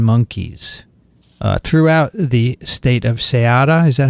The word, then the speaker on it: Ceará: And they have sampled marmosets and capuchin monkeys throughout the state of Ceará. Is that how you say it? Ceará? Ceará.